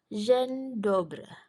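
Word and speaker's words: dzień dobry: berikutnya tulisannya dezien dobri Tapi dzi bacanya tadi J jadi eh cara membacanya Zen zendobre zendobre artinya selamat pagi nah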